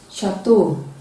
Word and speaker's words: chateau: stage we cannot shoe champagne sheep sheep chevron chateau at the middle position attention prevention caution congratulations